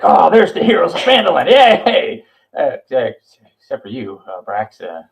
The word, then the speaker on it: Phandelver: Except the P is silent in Phandelver, so it's we're host.